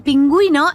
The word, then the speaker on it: pingüino: El pingüino es un animal vertebrado. We use he plus u with accent. In this case, you need to pronounce the u like we.